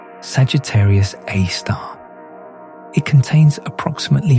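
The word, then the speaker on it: Sagittarius A*: The supermassive black hole at the center of our own galaxy, located in the direction of the constellation Sagittarius, is called Sagittarius A, pronounced Sagittarius A star.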